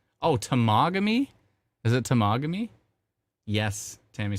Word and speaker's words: Temagami: So my wife called me and she said, Tamagami. I'm like, oh. My wife literally called me to tell me how to pronounce it.